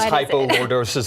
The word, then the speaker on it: hypolordosis: First off, what is hypolordosis and am I saying it right? You said it beautifully.